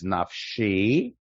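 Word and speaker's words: נַפְשִׁי: Asher lo nasa lashav nafshi. Now this is a Kriyan Ktiv, which means it's written differently in the text and it's pronounced differently with a little note next to it.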